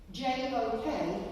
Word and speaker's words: Jok: J-O-K, but you don't pronounce the J the same way that we do, so they call it a Jok.